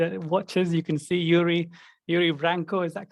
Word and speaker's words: Yuri Branco: for our youtube watchers you can see yuri yuri vranco is that correct have i pronounced that correctly yeah yeah that's right how